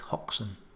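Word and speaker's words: Hoxne: people from outside suffolk how would you pronounce this village name most of you will know it it's hoxin but did you notice anything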